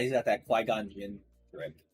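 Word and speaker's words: Qui-Gon Jinn: Uh Quigon. Yeah. Did I say it right? Quon Jin. Yeah, that's right.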